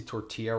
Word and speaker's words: tortilla: broken those throws spicy tortilla wraps and Pepsi Max damn that's high tier I love that you spelled tortilla without the L's which if you just read it in English becomes the correct pronunciation almost good law yeah